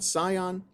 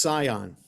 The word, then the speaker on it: scion: I'm always not sure how to pronounce that word. S-C-I-O-N. Scion?